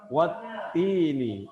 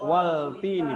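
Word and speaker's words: والتين: Watini. Jadi dibacanya tidak waltini, tidak. Kenapa tidak dibaca waltini?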